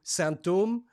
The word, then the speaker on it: sinthome: the symptom it's called from symptom to santom to use the French pronunciation uh it's it's a